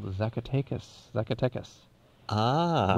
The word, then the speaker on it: Zacatecas: in mexico called the zacatecas zuckertechus ah which when the mad stutterer pronounced it it sounded like succoticus but is there a